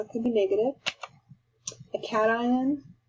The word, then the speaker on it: cation: can be negative a cation a lot of people think uh pronounce this wrong so this is called cation is a ion with